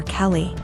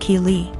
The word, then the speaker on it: Keeley: was calling my daughter Kelly my daughter's name is Keeley pronounced Keeley so after school was